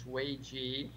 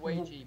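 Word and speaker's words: 危机: I pronounce it Weiji, but don't use my pronunciation.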